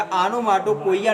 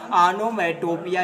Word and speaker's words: onomatopoeia: गलत प्रोनाउंसिएशन मत करिएगा, आनोमाटोपोइया ना पढ़िएगा, आनोमैटोपिया ही पढ़िएगा। क्यों इसको आप आनोमाटोपोइया नहीं पढ़ेंगे, आनोमैटोपिया पढ़ेंगे।